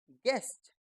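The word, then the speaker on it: guest: यू ई एस टी यू को बोलना ही नहीं है तो क्या बन गया गेस्ट गेस्ट यानी मेहमान आइए अब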